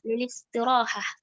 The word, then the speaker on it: للاستراحة: Kenapa kita bacanya lilistiraha? I-nya kok nggak nampak? Karena di sini alistirohah ini ya, hamzah pada kata istirohah nih, maka hamzahnya ini disebut dengan hamzatul wasl ya.